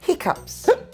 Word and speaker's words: hiccoughs: It looks like cough, but we say hiccups. Jay's got hiccups. Hiccups. Hiccups. So here the sound is up.